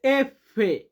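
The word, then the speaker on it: effe: এরপরে আছে এফে। আমরা উচ্চারণ করি এফ।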